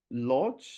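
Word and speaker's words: Łódź: This is but in what was nice at the photo festival in Lodz in Ud, or the Uch is actually how you say it.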